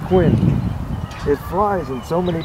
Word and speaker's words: Quinn: Ah, Quinn. Very interesting, Quinn. Rhymes with twin, does it not? That's right, twin, yeah.